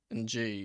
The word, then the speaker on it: Ng: I was going to say, like, I heard the commentary pronounce his name NG, and I've never heard that name pronounced that way, but apparently that's the way he pronounces it, because it's the way people have always called him.